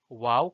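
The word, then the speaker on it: wau: why they called it wow kite it is a uniquely designed malaysian kite its wings are similar to an arabic letter pronounced wow passer gudeng international kite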